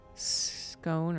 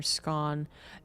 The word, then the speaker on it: scone: Whether it's pronounced S-K-on or S-K-on? Scone or scone. Oh. Well, I figured, English people say scone sometime, right?